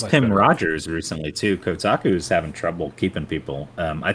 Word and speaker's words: Kotaku: and I you know I know Kotaku is still you're supposed to say Kotaku but something in my brain still makes me say kotuku for some reason because I'm just like